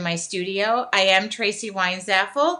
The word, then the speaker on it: Weinzapfel: studio I am Traci why is FL the P is silent um I want to